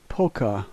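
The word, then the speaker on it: полка: The first letter is pe, which is a P sound. All other letters are the same as in English, and this word is polka.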